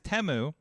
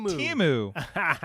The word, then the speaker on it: Temu: wrong the entire year the new ad is temu temu we I think everybody's been pronouncing it timu and then we're like we've been saying this